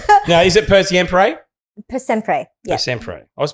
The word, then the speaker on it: Per Sempre: can't pronounce it? Because Yes. it's Italian. No, is it Per Sempre? Per Sempre.